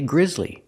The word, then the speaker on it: grisly: or I can say Grizzly it was a Grizzly death pronunciation use the short I sound like this is gri Griz the S is pronounced with the ZZ sound like zebra with vibration Z Grizz Grizzly two